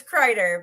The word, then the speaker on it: Kreider: It's Kreider, but the Kreiders are pretty common pronunciation for it.